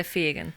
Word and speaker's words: Fegan: So it's either Fegan or Fegan. I'll accept both. Ooh, but what's the correct pronunciation? I would say Fegan.